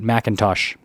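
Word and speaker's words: McIntosh: And then the Macintosh sound system. Yes, I said it right, Macintosh.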